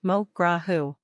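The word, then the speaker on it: mo ghrá thú: use modra Thursday this is roughly pronounced mokra who the first word rhymes with low don't be fooled by the th in the last word Thursday should sound like the noise an L makes some Regional accents pronounce it a little more like huh but the important point is that you should use an H sound for the word literally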